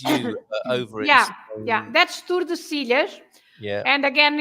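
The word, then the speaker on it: Tordesillas: Yeah, that's Tordesilhas. Yeah. And again, it's the Spanish pronunciation, Tordesilhas. Oh, stop because in Portuguese we say Tordesilhas.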